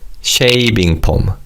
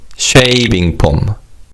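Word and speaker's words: 쉐이빙폼: And again F sound doesn't exist in Korean. So it's pronounced as p which is similar to the P sound in English.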